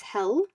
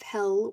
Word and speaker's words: Hel: And an interesting story connected to this is the myth of the goddess Hel, spelled Hel. And it's from this goddess Hel that we now have our hell, pronounced Hell.